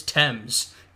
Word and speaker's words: Thames: squeezing them out on the banks of the teams first off he hits Thames mispronounced that but there you go uh there's